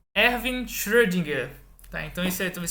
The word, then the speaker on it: Schrödinger: Então o nome dele é Schrödinger. Então, como ele também é alemão, o final é R, assim como Euler se fala como um som de A. Então a gente fala Schrödinger.